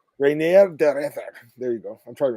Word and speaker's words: de Ridder: Reinier de Ridder. Reinier de Ridder.